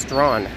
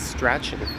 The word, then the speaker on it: Strachan: Techniques T, it's pronounced Strawn. A lot of people might read it as Strachan.